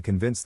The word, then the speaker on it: convince: To pronounce convince, have in mind that the size of the syllable indicates where the accent or stress is. In this case, the accent is in the second syllable, corresponding to vins.